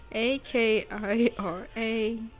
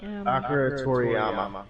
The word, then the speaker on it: Toriyama: And I'm not even gonna pronounce this correctly. Akira Torim. Akira Toriyama.